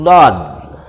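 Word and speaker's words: ض: Ini namanya huruf dad. Dad, ya, kalau ejaannya seperti ini.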